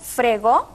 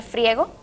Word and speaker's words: friego: Decimos fregó en lugar de friego y mencionamos Europa en lugar de Europa.